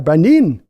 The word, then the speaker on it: Brandon: over in Germany where they pronounce Brandon with an I at the end, and so it's got a Brandin at the end, and